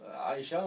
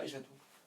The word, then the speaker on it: Aisha: Pareil, Aisha tout, on dit Aisha, on dit Aisha, on ne dit pas Aisha tout.